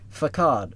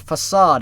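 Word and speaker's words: façade: weeds the DAP dated fad facade that's how you say not fad God damn it facade is how you say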